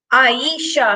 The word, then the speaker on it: Ayesha: Um, Ayesha has 3. Ayesha has 3 in her name.